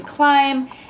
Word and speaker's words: climb: like he doesn't know the silent b in climb he doesn't read mountain